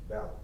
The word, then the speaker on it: Ballard: Ballard. How do you spell it?